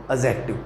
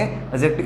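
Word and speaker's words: adjective: क्या बोलेंगे इसको, एडजेक्टिव बोलेंगे या एडजेक्टिव बोलेंगे, तो इसको हम बोलेंगे एडजेक्टिव। क्या बोलेंगे, एडजेक्टिव। इसमें जो डी होता है दोस्तों आपका वो साइलेंट होता है।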